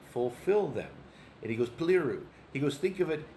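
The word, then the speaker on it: πληρόω: Paliru.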